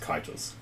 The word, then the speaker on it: Cetus: The spelling for Cetus is actually supposed to be pronounced Kitus. Mhm. Oh, now you're messing with me. Don't worry about it, it's Cetus.